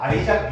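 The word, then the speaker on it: Isaac: 그 우리는 이삭이라고 읽고 외국 애들은 아이작이라고 읽어요. 네. 아이작이 맞아. 아이작.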